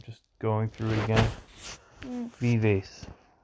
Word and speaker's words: vivace: going through it again vivace vivaci is the correct way to say it what about perfect year